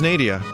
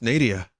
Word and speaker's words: Nadia: in the canyon it rhymes with stadia oh no oh this